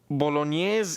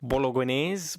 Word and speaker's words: Bolognese: goes nothing Sant agato Bolognese Italy now I know I know now I know that it looks like Bolognese but it's not it's Bolognese Bolognese Bolognese Bolognese whatever